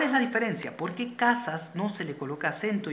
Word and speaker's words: casa: Si la mayor fuerza de voz fuese en la última sílaba, se dijese casa.